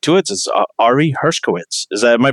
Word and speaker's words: Hershkowitz: our guests I'll get right to it sorry Hershkowitz is that my pronouncing it right yes well yeah re